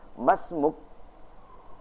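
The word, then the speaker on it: ما اسمك: Masmuk, itu kata yang disingkat dari kata ma ismuka, karena di dalam hamzah ini terdapat namanya hamzah wasol, sehingga cara membacanya pun juga harus digandeng, tidak dipisah. Kecuali ketika hamzahnya yaitu hamzah khata', maka ia harus dipisah. Karena hamzahnya adalah hamzah wasol, maka dia cara membacanya pun juga harus secara gandengan.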